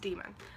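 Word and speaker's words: daimon: it's it it's pronounced demon I know it sort of looks like Damon but it's pronounced demon um at least that's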